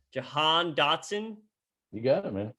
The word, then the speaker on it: Jahan: the name shocker the prince is wrong with pronouncing a name jahan dotson you got it man johan dotson hey